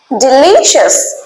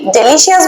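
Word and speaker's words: delicious: যেমন ডিলিশিয়াস, আমরা কি ডেলিশিয়াস বলতাম তো? না, ডেলিশিয়াস না, এটা কি? ডিলিশিয়াস।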